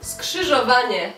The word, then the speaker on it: Skrzyżowanie: It's like four syllables in 1 second.